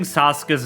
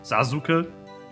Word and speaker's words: Sasuke: pronunciation knows about, like, pronouncing Sasuke's name with a U, but with a like full U sound, Sasuke. Just, yeah, his name is Sasuke. Anyway. Yeah. But, like, that's also a pronunciation mistake.